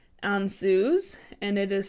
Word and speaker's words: Ansuz: I have for you guys today is called on zoos and it is spelled aan suz and this is considered the